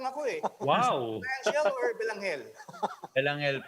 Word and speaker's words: Belangel: Belangel po. Belangel. Angel. Yes po, with the silent E.